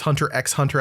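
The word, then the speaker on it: Hunter × Hunter: It's Hunter X Hunter as it's written. But you never say the X.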